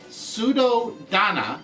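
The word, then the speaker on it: Suddhodana: is the person I'm King sudo Sudo Donna there we go now I said it right King sudo locked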